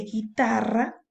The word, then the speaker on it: guitarra: Lo mismo pasa en el caso de guitarra. Fíjate, la U no suena.